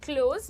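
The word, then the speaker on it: clothes: सो से it like क्लोथ्स not with a harsh थ sound. थ नहीं बोलना है। थ नहीं बोलना है। क्लोथ्स नहीं होता है वो। इट इज़ क्लोथ्स। ज ज़ ज ट्राई करो एक बार।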